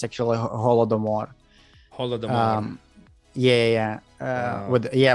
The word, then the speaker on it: Holodomor: guy in uh it's like voldemort but it's holdemore it's like that harry potter yeah well it's like it's actually it's like an american uh pronunciation it's actually a holodomor um yeah yeah with yeah with the hard